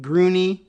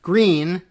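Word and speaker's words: Gruene: But Berne, Texas, and that there is also a Grune, Groony, or I suppose if you were thinking Bernie, maybe that's Groony, but no, it's just pronounced Green, Texas.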